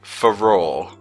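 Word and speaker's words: Farore: Oh hey, it's a spell I can't pronounce the name. It's the Ferrero Rocher Wind. The Ferrero Say it with me. Faror.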